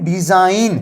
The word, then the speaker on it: design: तो DESIGN डिजाइन, तो यहां पे जॉ हो रहा है इसका, और ये जी हमारा क्या है, साइलेंट है गाइस।